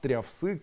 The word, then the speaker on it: трявсык: Это коды, кто знает, припутав, трявсык и кыстеплово. Помните, если каждый день произносить припутав трявсы кыстеплово, то исчезают страхи, депрессии, панические атаки. Кыстеплово трявсык припутав. Припутав кыстеплово трявсык. Не трявы, а тряв. Трявсык.